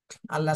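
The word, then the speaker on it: الله: ডানে জবর আসছে এজন্য আল্লাহ শব্দের লামকে মোটা করে পড়তে হবে আল্লাহ শব্দের নিয়ম আপনাদেরকে শেখানো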